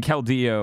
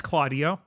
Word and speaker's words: Keldeo: even anyway uh and calo uh Dan Dan please it's it's claudo okay claudo is trying to